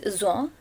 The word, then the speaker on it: Jean: The pronunciation of Z-E-A-N is Jean because it's a French story.